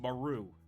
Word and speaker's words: Maru: okay, how do you say her name? Okay, so it's... yeah, I've been saying it right. It's Maru.